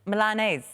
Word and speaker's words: Milanese: Because Milan, you say Milan, but it's... Milanese. Milanese. Milanese.